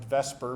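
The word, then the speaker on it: VSEPR: You know, because of veence shell electron pair repulsion theory, which you guys probably pronounced vesper because it sounds better than the zepper.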